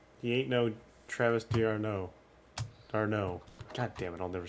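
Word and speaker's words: d'Arnaud: it right the first time say it again darno there you go you got it i think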